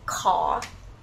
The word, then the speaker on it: ขอ: tissue, you should use the word call. Rising tone.